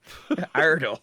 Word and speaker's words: Iredell: Iredell. Like it's Idle. just that's just how you pronounce it.